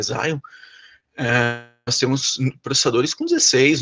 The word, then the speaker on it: Xeon: temos servidores da linha Xeon, ou Xeon, como queiram, a pronúncia correta é Xeon, nós temos processadores com 16 núcleos, com 32 núcleos, tá?